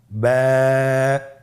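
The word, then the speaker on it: باء: বা হরফে টান হবে, এক আলিফ টান। আপনারা আমার সাথে বলুন বা।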